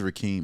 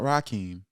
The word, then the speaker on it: Ri'eam: course Brooklyn everybody but my name is rakee everybody I just want not Rakim not rickm not raheim but thank you but